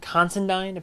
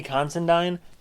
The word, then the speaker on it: Considine: i was wrong um patty constandine patty considine i believe is how you say his name i thought i recognized